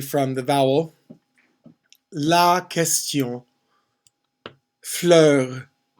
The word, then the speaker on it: fleur: Fleur is just one syllable. La fleur.